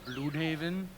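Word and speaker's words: Blüdhaven: Blood Haven. Blood Haven is correct. Actually, it's pronounced Blood Haven.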